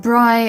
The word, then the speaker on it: Bri: It's pronounced Bri, Avery. She's not a French cheese.